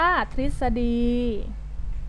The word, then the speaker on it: ทฤษฎี: กัน เลย อ่ะ อ่ะ ทฤษฎี อ่าน ว่า ซิค สดี นะ คะ ซึ่ง ก็ อ่าน ออก เสียง รึ เป็น ริ นะ คะ อ่ะ มี